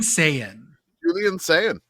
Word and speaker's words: Sayin: Julian Sayin. Brother of like Penn. like Super Saiyan? Not spelled the same, but close enough.